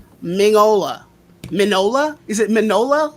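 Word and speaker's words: Mignola: i can't it's like you don't pronounce the g mingola manola is it manola like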